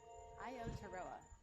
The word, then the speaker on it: Aotearoa: And they had a really funny bit about pronouncing this building. Yeah. It's Aotearoa.